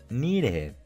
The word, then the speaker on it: needed: Cuando un verbo termina con una T o con una D y le agregamos ed al final, la pronunciación del verbo va a ser igual, pero con un sonido id al final.